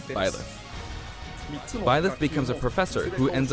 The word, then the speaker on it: Byleth: one of 3 academic Byleth, that's how you pronounce it. I was saying the name wrong. I said like Bayleaf or something like that, so it's Byleth.